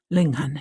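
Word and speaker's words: Linghun: history, but an incredible book is do you pronounce it? Linghan. Linghan.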